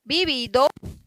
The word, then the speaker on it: vivido: Então, vivido, vivido, do jeito que escreve. A letra V, ela se pronuncia como um B.